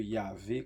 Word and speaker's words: Yahvé: Donc, je suis celui qui suit, que l'on rend par le sigle YHWH, le fameux Yahvé comme on le prononce.